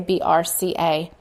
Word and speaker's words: BRCA: the CA from cancer it's pronounced Braco or sometimes they say BRCA and we talked about